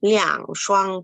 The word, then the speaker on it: 两双: 그래서 两双 두라고 읽히니까 二双이 아니에요. 两双이라고 해주시고요.